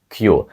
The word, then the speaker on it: queue: з п'яти літер Перепрошую з даного слова вимовляється тільки перша Q Отже це слово звучить просто як Q і означає черга наприклад